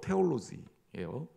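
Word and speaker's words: theology: 영어로 테올로지예요. 이거 테올로지 발음 정확하게 하면 번데기 발음. T가 아니라 테올로지.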